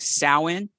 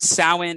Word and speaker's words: Samhain: You know, when you see a word like Samhain, it is not spelled the way it's pronounced for an American. Okay. That's not an English, you know, like Samhain.